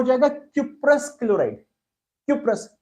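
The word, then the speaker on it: cuprous: क्यूप्रस, कॉपरस नहीं बोलते, वो थोड़ा प्रोनाउंसिएशन बदल दिया गया, क्यूप क्यूप CuP लगा देना, क्यूप्रस क्लोराइड हो गया CuCl।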